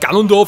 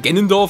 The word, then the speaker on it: Ganondorf: Da spricht sich nicht Ganondorf, sondern Genendorf aus, anscheinend auch im Deutschen.